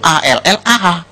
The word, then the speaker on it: Allah: Kalau kita cukup Allah gitu. Kayak bercanda sama teman aja, Allah lu gitu aja tersinggung gitu ya. Kayak begitu, ringan gitu. Bacanya itu ringan. Tapi kalau mereka itu terpengaruh dengan bahasa Arab. Jadi gak ringan, Allah.